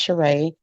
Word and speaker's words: Cheree: It looked like Cherie, but it's actually pronounced Cheree.